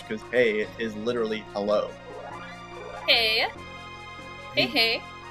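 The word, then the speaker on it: hej: Hey. Hey, hey. Yeah, H-E-J. It's pronounced hey, and it means hello.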